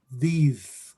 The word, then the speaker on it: these: For multiple objects, you say these, like with a Z, these.